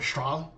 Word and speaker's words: Strahle: or something, and I'm sure it wasn't pronounced Strahle, it was probably Strahle. That's how you really say my name.